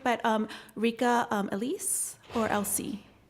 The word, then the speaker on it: Elysee: but Rika Elise or Elsie? Like Elise, like Elise. Elise.